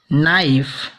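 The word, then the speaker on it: knife: इसी तरह किसी भी शब्द के प्रारंभ में के एन लेटर आता है उसे हम के एन से न पढ़ के केवल यन शब्द से, यन लेटर से प्रोनाउंसिएट करेंगे। जैसे नी, knob, not, नाइफ, no, knock.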